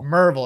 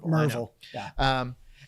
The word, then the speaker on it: Maryville: there's a there's a small town called uh maryville tennessee it's pronounced merv merville if you're listening to this in east tennessee sorry it's marvel and so if you're a maryville plumber um